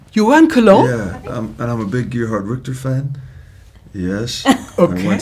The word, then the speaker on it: Gerhard Richter: How do you pronounce Gerhard Richter? There you go. Gerhard Richter.